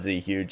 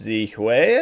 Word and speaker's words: Z Hui: guys know him as, I always say Z Huge. It's not Z Huge, it's Z Hui, I think is how you actually pronounce it.